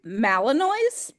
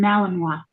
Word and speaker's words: Malinois: Belgian Malinois. Yeah, named King Tut. Yeah. Okay. Yeah, I've never heard of that breed either, but Malinois just made more sense as for French pronunciation.